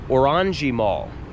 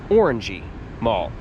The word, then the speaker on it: Orangerie: was known as the Orangi Mall. Now, if you look at it, it looks like it would be Orangey Mall, but the prank the right way to say it is Orangi Mall. Orangji in in France meant